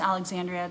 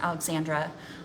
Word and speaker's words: Alexandra: all of them yes Alexandria this is or I apologize I definitely pronounced your name wrong Alexandra this is happening in